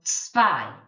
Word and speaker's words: zwei: So AZ, if you remember, was a, so zwei. Remember this one, we've got to put the V sound in as well.